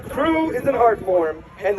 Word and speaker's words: CRW: CREW is how you pronounce the acronym CRW, which stands for Canopy Relative Work.